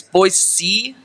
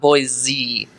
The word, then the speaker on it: Boise: we're in Boise yeah the proper way to say it yeah it's Boise not boy Z yeah it's and they say it like that uh and I get